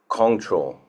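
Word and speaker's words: Kongtrul: Zigar is spelled D-Z-I-G-A-R. Control, K-O-N-G-T-R-U-L, Rinpoche.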